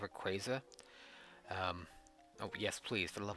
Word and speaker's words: Rayquaza: I always call him Wickwaza, but I think it's Rayquaza.